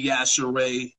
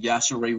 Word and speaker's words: Yashere: I've definitely been pronouncing Yashere wrong this whole time. Well, that's what I'm here for. What were you saying? Yashir? Yes. Gina, is Gina Yashir? Gina Yashir. Gina Yashere.